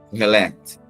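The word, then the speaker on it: Qohelet: Se quiser que eu vou pronunciar aqui, ó, pregador ou sábio, eu vou soletrar. É Q-O-H-E-L-E-T. Q-O-H-E-L-E-T. Kohelet. Q-O-H-E-L-E-T.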